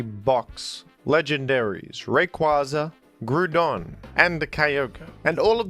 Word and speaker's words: Groudon: It's very clear that the OU, much like the words soup and group, is intended to be pronounced with an oo sound.